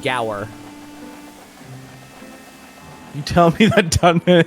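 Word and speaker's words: Gaur: really played because it's Gower Plains oh is not PLS I thought it was G it's spelled g a u r i pronounce it goer you tell me that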